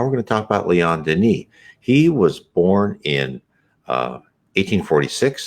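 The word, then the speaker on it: Léon Denis: Here's Leon Denis, Leon, Leon Denis, Denis, how it's pronounced.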